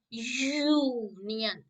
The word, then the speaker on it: union: articles here comes a union territory because we pronounce the word union so it comes of consonant j u not u so here you have to write a union territory now comes number nine they want dash